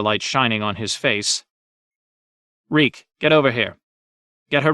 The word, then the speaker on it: Reek: he sheathed it reek my name is reek it rhymes with weak reek bent to his